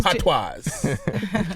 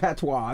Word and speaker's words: patois: Patois. It's not patois. What is it? Patois. Patois. My The S goodness. is silent.